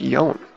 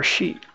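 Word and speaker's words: 四: It doesn't even tell you that four is pronounced yon, or she.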